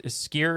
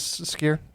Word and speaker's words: skyr: doc uh food documentary but in iceland is skier is that how you pronounce skyr is pretty popular oh yeah we